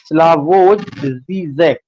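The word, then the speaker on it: Slavoj Žižek: that is Jacques Lacan, and more recently by Slavoj Zizek. This is the pronunciation.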